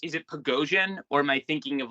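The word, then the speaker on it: Пригожин: Is it Prigozhin, or am I thinking of like how to pronounce his name wrong? Prigozhin.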